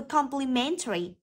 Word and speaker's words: complimentary: đúng không Vậy từ complimentary trọng âm rơi vào âm thứ ba rơi vào từ m đó complimentary B hilarious